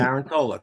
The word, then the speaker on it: Tarantola: It's Tarantola, the Tarantola, correct.